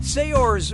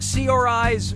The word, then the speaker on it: Saoirse: yeah sure you do how do you pronounce her name Saoirse Ronan Saoirse Ronan say yours Ronan or see our eyes Ronan so who got it let's call this a teaching moment Saoirse says that's the correct way to say her name now when you run